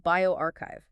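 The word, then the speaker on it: bioRxiv: That's B I O RXIV pronounced bioarchchive and they focused on Hutchinson Guilford PGeria syndrome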